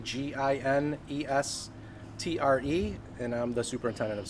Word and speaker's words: Ginestre: Janestri did get down there when we start working